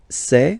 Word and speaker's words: sait: Il sait, final T not pronounced.